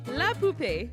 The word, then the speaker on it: poupée: What do these words mean before I tell you the correct pronunciation? I wipe front to back. I wipe back to front. Our word is la poupée.